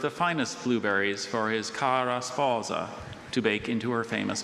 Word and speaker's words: cara sposa: Just so anyone doesn't wonder, Dr. Bailey wasn't exaggerating that pronunciation. That's what the dictionary says to do with that word. Others are more English sounding, but with that word in the dictionary, that's how you're supposed to say it.